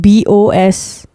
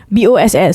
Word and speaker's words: Boss: It's called Bose. I don't know how to pronounce it. Bose. Bukan kan? Boss. So it's Boss.